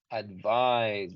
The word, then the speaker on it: advice: Recordemos que la letra V en inglés sí se pronuncia diferente a la letra B, entonces vamos a decir casi como si fuera una F para sonar advice.